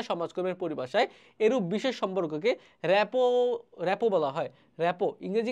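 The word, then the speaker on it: rapport: আর টি রেপোর্ট কিন্তু এটা যদি আমরা বলি এটার উচ্চারণ হবে রেপো রেপো পেশাদার সমাজকর্মীর সমস্যা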